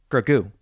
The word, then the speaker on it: Grogu: favreau on tv and he emphasized the first syllable which i've i've heard nobody else do grogu gregoo gogu is what he